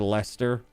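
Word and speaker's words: Leicester: A horse a horse of uh Lchester, right? Or or leester, depending on how you want to pronounce that.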